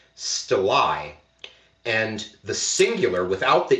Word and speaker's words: stelae: And it's only recently that I've discovered that plural, because with the E on it, that's plural, should actually be pronounced stelae.